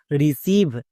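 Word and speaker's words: receive: পুরোটার উচ্চারণ কি দাঁড়ালো রিসিভ খুবই সিম্পল নিয়ম যেকোনো শব্দে যদি ই আই দেখতে পাও তার জন্য হস্তিকার সাউন্ড করবা যেমন ডি ই ডি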